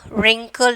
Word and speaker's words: wrinkle: And then wrinkle W, wrist W is the silent letters.